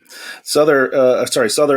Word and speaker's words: Sother: So for those who are listening, you pronounce Sother like utter with an S at the front of it. So Sother, what is the title of the show? Sother is my name.